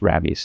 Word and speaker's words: Rabbies: Although it looks like rabies, but I'm pretty sure it's pronounced Rabbies, yeah.